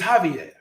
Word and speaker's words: Javier: But in pronunciation, there is not. So what looks like Javier is Javier. What looks like Jose is Jose. What looks like Jesus is Jesus.